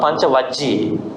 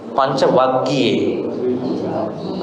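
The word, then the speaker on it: Pañcavaggi: Not Panchavajji, Panchavaggi.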